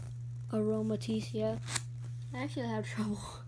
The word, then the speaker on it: Aromatisse: I actually had a problem pronouncing this. The first time I actually saw the name. But I figured it out now that it's Aromatisse. Aromatisse, yeah.